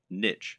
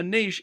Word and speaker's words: niche: Or to use the correct internet business parlance, what is your niche, or niche as some people pronounce it? A niche is a subject that will appeal to a specific audience.